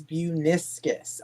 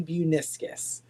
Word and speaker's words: Buiniskis: My last name is Bueneviscus. I tell everyone if you forget how to pronounce it like the meniscus in your knee, hibiscus flower, but it's Bueneviscus.